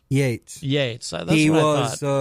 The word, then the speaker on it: Yeats: Is it pronounced Yeats or Yates? Yates.